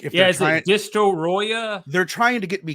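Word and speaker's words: Destoroyah: put the Japanese accent sounds like a very Japanese word for destroy it sounds though like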